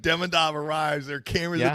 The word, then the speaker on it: Demidov: be interesting to see Demidov play in a playoff series.